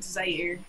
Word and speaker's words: Zaire: Yeah, it's Zaire, and then my last name I guess is technically French, so it would be pronounced, but it's pronounced over here.